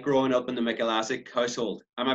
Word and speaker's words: Mikulasik: what it was like growing up in the mecca lassic car sold am i pronouncing your name properly extra is Asik I think some people brought